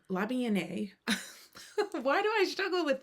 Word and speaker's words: La Bien Aimée: Uh La Bien Aimée. La Bien Aimée.